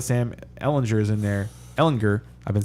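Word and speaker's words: Ehlinger: Campbell now that Sam Ellinger is in there Ellinger I've been saying it wrong a bunch of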